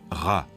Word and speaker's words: Ra: soleil et Champolion sccopte il se prononce RA en bas une lettre